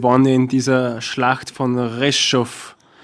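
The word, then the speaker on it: Ржев: Sie, wenn ich richtig informiert bin, Sie waren in dieser Schlacht von Reschow. Nein, Reschiv. Reschow, so spricht man das Reschow.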